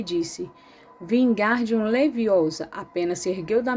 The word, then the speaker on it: Wingardium: Você está dizendo o feitiço errado. Harry ouviu Hermione corrigir, aborrecida. É Wingardium Leviosa. O gar é bem pronunciado longo.